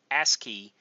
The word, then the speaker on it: ASCII: on your keyboard uh ask key is how you pronounce that ASCII that stands for